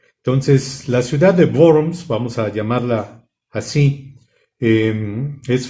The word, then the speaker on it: Worms: bornes o de worms se escribe con w aquí pues si está por ahí nuestra mano avitia nos puede echar una manita para la pronunciación porque empiezan a aparecer muchas de las palabras que empiezan cuando veo se pronuncian como v entonces la ciudad de